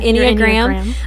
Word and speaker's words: Enneagram: are going to talk about is it the Enneagram is that I think that's how you say it yeah Enneagram um I have never taken the test before